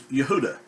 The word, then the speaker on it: Yehuda: Judah is the way people pronounce it in English, but in Hebrew it would be pronounced as Yehuda. Now, not Yehuda, it's Yahuda.